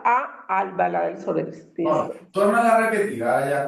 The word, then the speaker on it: Albalat dels Sorells: Sí, pero a eh recuerda que no es en Albaladel Soris, sino a Albalá del Solis. Se pronuncia a Albala del Solis.